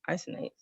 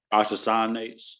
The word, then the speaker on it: isocyanates: That's how you say it, isonates, Isocyanates. isocyanates. Sorry.